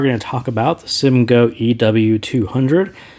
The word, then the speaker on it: Simgot: I do say Simgo. I don't know if it is Simgot, Simgoat. I'm not really sure how they officially pronounce their name, but Simgo is easier to pronounce for me, so I'll go with it.